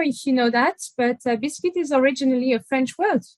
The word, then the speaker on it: biscuit: but in any case originally biscuit is a french word that is pronounced biscuit and biscuit literally means cooked two times the the objective in